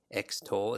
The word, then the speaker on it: extol: means to praise and what does it sound like eggs toll sounds like extol it sounds like eggs